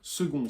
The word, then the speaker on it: second: Second, ça prend un C, alors qu'on entend bien un G.